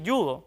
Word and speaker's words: yudo: ve aquí en pantalla Pese a que aparece escrita con j por ejemplo la palabra yudo está muy arraigado que digamos así yudo sin embargo por su grafía o sea por como está escrita debería decirse judo verdad por eso las